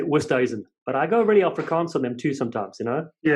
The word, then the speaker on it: Oosthuizen: Oosthuizen, the young lad who was playing, his dad came up to me and said he wanted me to say it properly, Oosthuizen.